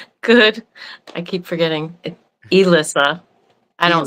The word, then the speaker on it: Elissa: Today we're talking with Alisa Butson. How we doing today, Alisa? Good. I keep forgetting. Elisa, I don't say it right sometimes.